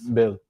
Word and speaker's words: Boehl: Bill. Boehl. Bill. Bill. Bill. It's like Bill. German surname.